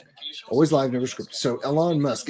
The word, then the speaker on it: Elon: Elon, and that is, by the way, how you pronounce his name, Elon.